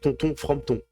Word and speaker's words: Tonton Frompton: TikTok, mon nom, pour ceux qui veulent savoir, c'est Tonton Frompton. Donc Tonton, comme ça s'écrit comme un tonton, et tout collé Frompton, Fromton.